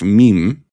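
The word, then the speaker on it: Mîm: Meme. Is that how you pronounce it?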